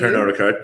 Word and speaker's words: Pernod Ricard: But then in the following year, Pernod Ricard, French pronunciation, I'll defer to you. Pernod Ricard.